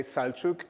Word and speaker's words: Salchuk: So my name is Salchuk, and well, I don't know how to pronounce it so that people can get it from the first time, but it's just pronounced as it is written. So just if you come to me, just say Salchuk, and yeah, that's it.